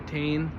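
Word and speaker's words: Tein: So starting off on suspension, we have Teen Flex Z coilovers, or Tane, however you want to pronounce it. It just seems to roll off my tongue as Teen.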